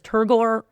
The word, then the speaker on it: turgor: That pressure is called turgore pressure. And it's why plants wilt when they're dehydrated, which I always kind of giggle at because turgore rhymes with eigore and eigore has a hunch just like when plants wilt.